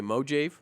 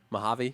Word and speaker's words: Mojave: Mojave what what what what do you say mo jeff no just get me usually Mahatma javi mohave mohave hebei all right I used to mispronounce boron and now I corrected on Mojave as well all right moving on